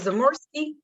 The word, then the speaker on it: Zamorsky: Is it Zamorsky? Am I pronouncing it correct, ma'am? Yes, you are, ma'am.